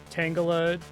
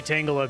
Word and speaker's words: Tangela: I was talking to my sister-in-law, Lisa, and her husband, Matt, about Pocopia, and they pronounce Tangela Tangela, which is really funny. Like your neighbor, Angela, Tangela. I only say Tangela because I knew it from the Pokemon rap, and I guess it makes sense.